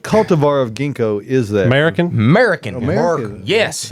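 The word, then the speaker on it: Mariken: American. American. American. Yes, it's not spelled like American. It's just a weird spelling.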